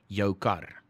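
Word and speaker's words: jou kar: now just accept that when you say your car in afrikaans it you don't say you are car or whatever you say yokar right now oh i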